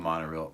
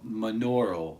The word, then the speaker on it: monaural: Oh, it's not monorail. Monaural. I always forget. I found that's how you say it. It's monaural.